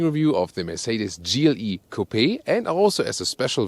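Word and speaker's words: coupé: suv front grille whereas the gle coupe or copay we always say copay because we lean to the french original pronunciation there's also a separate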